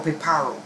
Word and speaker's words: Piparo: On the southern edge of Trinidad's central range lies the small village of Piparo. Okay, or Piparo, that's how they pronounce it, which boasts a few claims to fame.